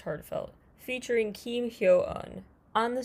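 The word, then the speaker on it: HA:TFELT: a t f LT unclear why but it is pronounced heartfelt featuring Keem hun on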